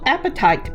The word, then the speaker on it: apatite: From the Bargain Bead Box, we will be using the Strand of natural apatite beads or chip beads.